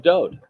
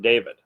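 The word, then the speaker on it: דוד: set to music of Do he is the Beloved and do is the correct pronunciation of his name it is not David there is no second vowel in his name just one the W and it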